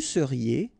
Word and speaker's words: seriez: Vous seriez, EZ at the end, et seriez.